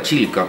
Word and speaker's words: Chilca: tomó su nombre y los españoles no podían pronunciar chilca con doble L y le quedaron quitaron a él y se quedó así como chica pero acá en chilca